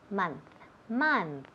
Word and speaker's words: month: Ok, so, todas esas palabras tienen el mismo sonido. M-O, pero se escribe M-O, pero se oye como si fuera una M-A. Month, money, Monday. Nunca month, money, Monday. No, eso es típico de Spanish.